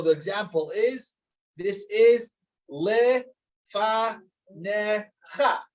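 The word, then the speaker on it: לְפָנֶיךָ: So the example is this is le fa necha. So you're not pronouncing the yud, but just le fa necha. The yud becomes silent, such a scenario.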